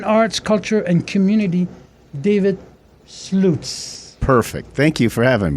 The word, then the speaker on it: Slutes: Pronounced Slutes. German. But if you look at it, it doesn't look like Slutes. So my grandmother, when she divorced my grandfather, at least decided to give herself a phonetic fighting chance and moved an E and S, like rhyme with flutes.